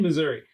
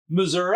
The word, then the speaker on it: Missouri: Then I moved to Missouri, and everybody here pronounces it Missouri. No. Yes. Not everybody. Well, not me. I don't. Not you. But there's so many people that are like, it's Missouri. And I'm like... There's no A.